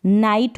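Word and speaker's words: night: नहीं सुनाई दे रहा, तो जी एच से पहले अगर आई आए और एंड में अगर टी आए तो इस जी एच को प्रोनाउंस नहीं करेंगे, नाइट हो गया है ये, ठीक है।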